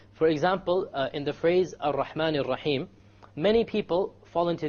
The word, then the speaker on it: Ar-Rahman: You cannot allow the tongue to roll. Ar-Rahman is a mistake. Ar-Rahman Ar-Rahim. No rolling. So it is very important when we pronounce the R, the ra in Arabic, we don't say ra, because it is a mistake. Rather, we say ra. One precise ra.